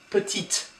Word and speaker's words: petite: The feminine version will be petite. And you do pronounce the T here. So petit, petite.